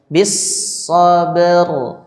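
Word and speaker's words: بِالصَّبْرِ: Jadi bacanya bis, langsung ke shotnya karena huruf shotnya ada tasydid ya. Bis sabr.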